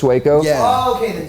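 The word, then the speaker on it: Sueco: It's spelled Suo, but yeah, his name's Suco.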